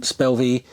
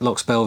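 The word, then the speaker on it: Loch Spelve: into locks spell spelv um which you will hear is pronounced incorrectly on the video. Uh cuz we didn't talk to a local until afterwards and she was like, "Yep, lock spell."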